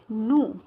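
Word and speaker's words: nous: नू। क्या बोला जाता है? क्योंकि आपको पता है कि फ्रेंच में ये जो पीछे के जो होते हैं लेटर साइलेंट हो जाता है। ठीक है, तो नू, इसको नू बोला जाता है।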